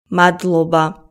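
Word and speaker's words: მადლობა: is how to say thanks in Georgian Matoba Matt Luba Matt Luba say okay Gargi Gargi say thanks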